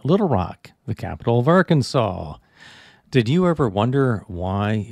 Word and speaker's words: Arkansas: Rock, the capital of Arkansas. Did you ever wonder why it is not pronounced Ark Kansas? You can thank the French for dropping the S at the end.